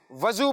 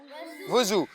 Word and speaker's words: وضو: جی ہاں، کچھ بچے اس کو وضو پڑھتے ہیں، کچھ اس کو وضو پڑھتے ہیں۔ درست تلفظ کیا ہے؟ وضو۔ پیارے بچوں، اس بات